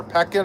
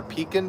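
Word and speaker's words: Pekin: So, Norah, these ducks or peckin or peacin ducks depending on how you say it.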